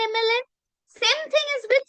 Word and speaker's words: MLA: m right what is the first sound e so this is the vowel sound that is why it's an mla same thing is with s if s will sound has s like spoon.